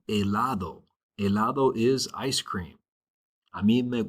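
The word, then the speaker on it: helado: Eladd. Remember the h is silent. Eladd.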